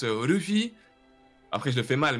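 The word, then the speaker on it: Luffy: tu vois en gros ça se prononce Ruffi après je le fais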